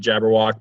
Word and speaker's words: Jabberwock: Well, you would pronounce it Jabberwock, but I threw the E in there just because when I went to go make a profile, it was taken.